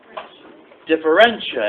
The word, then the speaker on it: differentia: Differentia. Excellent. Thank you. How do you spell it? Yes. How do you spell it? Okay. Well, think of it. Difference. It sounds like difference.